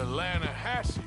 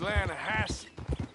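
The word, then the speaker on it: Lannahassee: some beautiful steelhead trout you mean the atlanta hassie river no no no no no the the lana it runs right near here yeah but it's pronounced land has why is everything in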